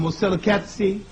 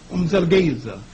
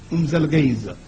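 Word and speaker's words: Mzilikazi: known in history as, the British call him Moselekatsi, and the Africans who can speak with the click language call him Umzelgeza. You have to say it fast or you will say it wrong.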